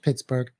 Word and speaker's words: Pittsburgh: Forbes was a Scotsman he probably pronounced the name like Edinburgh right right right uh it's now the there was some arguments over whether the it should be dropped it was dropped for a while I think but it's pronounced Pittsburgh and of course that's